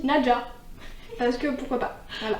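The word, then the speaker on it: Nezha: un personnage qui s'appelle, moi je prononçais Neza, donc c'est N-E-Z-H-A. Oui. Et vu qu'en fait c'est une prononciation chinoise, il y a l'autrice qui avait fait un TikTok pour expliquer comment on prononçait les noms et ça se dit Naja.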